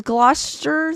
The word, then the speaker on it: Gloucester: the scene being skinned alive oh crazy just pronounced it as Gloucester that's correct okay I didn't want to butcher